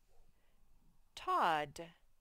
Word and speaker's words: Todd: Let's see, Todd, and there's another double final consonant. Remember, we only say one sound for it, D.